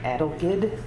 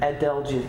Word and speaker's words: adelgid: are being attacked by a fungus called woolly adulkid uh i think i'm pronouncing that correctly adelgid thank you and um it's hard to control